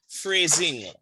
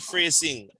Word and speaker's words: phrasing: So the S has a Z sound. Phrasing. Phrasing. Not phrasing. Phrasing.